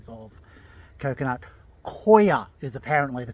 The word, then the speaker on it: coir: Koa is apparently the correct pronunciation.